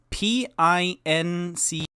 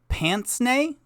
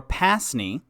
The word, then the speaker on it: pince-nez: The name comes from the French, which makes sense why it isn't pince-nez.